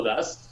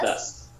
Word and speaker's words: does: do o does, Do o das. Sí. Das. Not, Ojo que se pronuncia das.